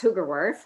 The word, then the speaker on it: Hoogerworth: did a great job it's hugerworth it's a dutch name i'm married into that